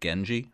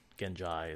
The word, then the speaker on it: Ghenjei: I said Genji for so many years, but Ghenjei makes sense. Otherwise, you really wouldn't need that extra vowel at the end. Ghenjei is one possibility, but... Ghenjei, I could see that. Again, sticking with the audiobooks, Ghenjei is the pronunciation.